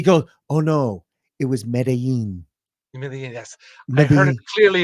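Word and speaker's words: Medellín: last name oh alex you've mispronounced that with the two elves it's not lin exactly correct have you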